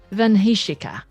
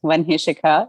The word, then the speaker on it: Vanika: you so much yes you're very very close to pronouncing my name it's vanika so you're yeah I would say 80% close I'm glad to be